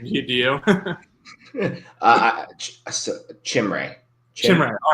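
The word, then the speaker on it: Chimere: I don't know how to pronounce that first name. Do you? Chimray.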